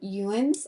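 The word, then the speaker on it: Youins: It's spelled just how it sounds. Y-O-U-I-N-S, ins.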